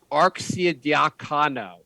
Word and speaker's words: Arcidiacono: The Knicks have signed Ryan Arcidiacono. I believe that's the correct way to pronounce his last name.